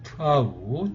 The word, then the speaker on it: tha: 이렇게 아무래도 이제 이 알파벳 H를 좀 구별해 줬기 때문에 이렇게 이제 발음도 약간 이제 히읗 발음을 해서 우리가 좀 일반 타랑 좀 구별을 좀 해주시면 좋겠습니다. 그래서 이렇게 트아 이런 식으로 좀 발음을 해주시면 되겠고요.